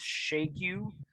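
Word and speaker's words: Xiegu: I think the technical Chinese pronunciation is Shagu.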